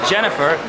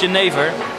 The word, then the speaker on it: jenever: So in English, some people would say it's pronounced as Jennifer. Unfortunately, it's Jennifer, because Jennifer works in the red light district, and that's where we're going now.